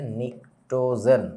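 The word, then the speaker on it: pnictogen: এটা হচ্ছে নিক্টোজেন। এখন এখানে একটা মজা আছে। পরীক্ষার হলে ধরো তুমি এটা দেখলা। তুমি চিনবা না। কেন চিনবা না জানো? বানানটা হচ্ছে এইটা। ইংরেজি বানান। P silent.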